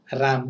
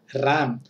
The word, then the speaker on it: RAM: RAM. Don't pronounce like ROM. This is what? RAM.